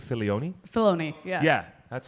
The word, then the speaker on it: Filoni: Filoni, yeah. Yeah, that's how you pronounce it?